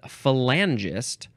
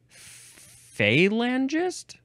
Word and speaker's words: Falangist: the next word is falangist or falangist I prefer falangist capital f a l